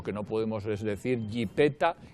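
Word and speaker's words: yipeta: no podemos es decir jipeta y escribir jepeta. Exacto. No, si usted dice jipeta, escríbalo con Y-I-P-T-A, jipeta, y ya está.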